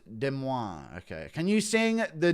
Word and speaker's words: Des Moines: It's pronounced Des Moines.